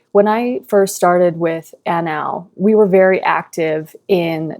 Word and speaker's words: ANAW: ANAW?